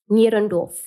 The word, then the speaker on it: Nierendorf: How do you pronounce the venue? Nierendorf. Nierendorf. Yeah, it's German.